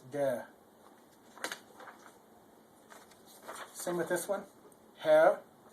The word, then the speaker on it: der: Der. Now in America, people like to put a hard R on the end of things like dare, but that isn't dare.